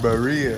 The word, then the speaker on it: birria: BIRRIA. That how you say it? Yeah. BIRRIA. That's how you say it, yeah. What's the ingredients?